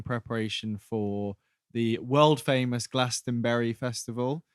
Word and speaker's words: Glastonbury: for the world famous glastonbury festival lasting berry is that like the strawberry it's like the strawberry and uh it's the correct way of pronouncing the english festival um at least according